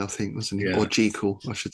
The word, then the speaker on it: Jekyll: Was an early sort of Jekyll and Hyde, I think, wasn't it? Or Jekyll, I should say, pronounce it properly.